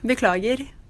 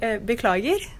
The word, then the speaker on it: beklager: How do you say sorry? Unnskyld, beklager. Whoa. Say that again. Say that again. It's like two different things. Like either you could say beklager or unnskyld.